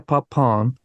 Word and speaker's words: Papin: regardless the Two Sisters Christine Le papon it's spelled p a i in but all the documentaries I watch they say Pap so I don't know I don't speak French but uh and a